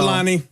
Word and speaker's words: Tselane: Saying it is one thing, but it's spelled T as in Tom, SELANELOVE. So Tselane.